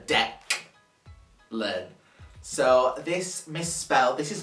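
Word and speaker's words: Deklan: c no it was d e k l a n so deck learn so this misspell this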